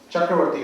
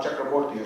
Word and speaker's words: Chakraborty: which was delivered by Professor Chakravarti, who is not here right now, or Chakraborty I should pronounce it.